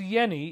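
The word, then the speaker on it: Jenny: a vibration Dr Hans Yenni even though it's a j it's pronounced like a y he studied geometry and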